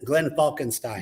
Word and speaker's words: Glenn Falkenstein: correct pronunciation? And Glenn Falkenstein.